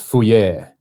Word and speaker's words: Fourier: You need to look up the Fourier transfer or transform.